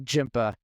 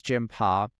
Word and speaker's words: Jimpa: starts and explains that it's not jimpa like I was thinking it was Jima kind of a a